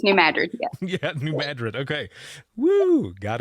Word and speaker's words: New Madrid: to say it right because it looks like madrid yes it does and it's madrid right yes new madrid yeah new madrid okay